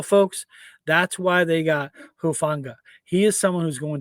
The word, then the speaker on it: Hufanga: And again, the pronunciation, the last name is Hufanga.